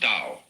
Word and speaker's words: Tao: it's called Daoism this character in Chinese is pronounced Dao Tao you would think it was pronounced to